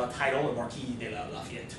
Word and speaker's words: Lafayette: The Marquis de Lafayette, right? Or as we would pronounce it around here, Lafayette, right?